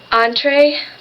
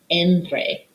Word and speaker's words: entre: top de bajo under entree between she mispronounces the word entree entree is what you order in a restaurant like your appetizer your entree your dessert it should be andre motto beside your next